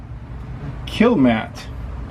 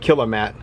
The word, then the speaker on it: Kilmat: nice and i think i might have pronounced it wrong earlier it looks like it's called kill matt i was calling it kill a mat i like that name